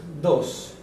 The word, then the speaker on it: dos: Aqui nós temos dos, sem o i.